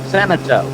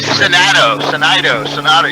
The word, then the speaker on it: Senato: I butchered Rich's name it's senato so and I think I knew this but I just say sonado you can just say